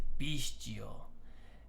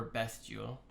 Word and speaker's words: bestial: And the last one I believe is bestial, and or bestial, but it has the sound of like a beast.